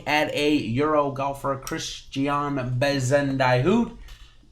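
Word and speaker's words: Bezuidenhout: a euro golfer christiane bezendai hoot that's probably not how you say it bison to hoot uh is probably a little bit better there uh he is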